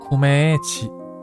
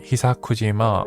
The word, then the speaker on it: Gugujima: Ah, Gugujima. Yeah. So that's how it's pronounced. I read Hisakujima , but I read the wrong book.